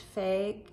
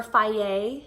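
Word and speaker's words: Fage: really like this fig it's pronounced fig or Phi a is how it's pronounced but it looks like fig 0% yogurt so I'll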